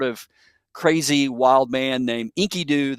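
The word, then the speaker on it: Enkidu: And he becomes friends with this um sort of crazy wild man named Inkyoo. That that's his name, Inkyoo, spelled with an e ki du.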